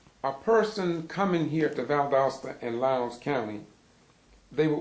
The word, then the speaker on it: Valdosta: One of them name was Valdosta, V-A-L-D apostrophe Osta, A-O-S-T-A, pronounced Valdosta.